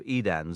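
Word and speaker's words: Edain: Regarding vowels, the combination AI is pronounced like the English I, so the second syllable of Edan sounds like dine, not dane.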